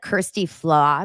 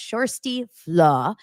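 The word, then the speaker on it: Kjersti Flaa: remember basically it's Kirsty it looks like Kirsty flaw but it's the it's pronounced shy flaw but it's um the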